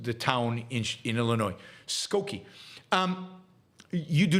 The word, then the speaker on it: Skokie: I mispronounced the town in Illinois. Skokie.